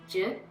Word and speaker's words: zhi: So it's in Chinese medicine, the word is zhi, and it's spelled Z-H-I.